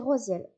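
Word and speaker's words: Raziel: Alors ça s'écrit radziel mais ça se dit rosiel pour nous aider à comprendre, assimiler et guérir les souvenirs de nos vies antérieures.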